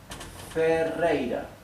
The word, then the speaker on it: Ferreira: This R in Ferreira, in my last name, is doubled. Therefore it is pronounced R, rei, R.